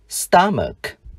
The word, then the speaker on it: stomach: Danh từ trường học, chữ CH chúng ta đọc là K. School. Danh từ dạ dày, stomach.